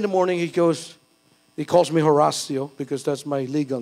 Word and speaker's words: Horacio: Very early in the morning, he calls me Horacio, because that's my legal name. So if you want to make a check, it's H-O-R-A-C-I-O. It's Horacio. Don't pronounce the H in Spanish. You don't pronounce the H.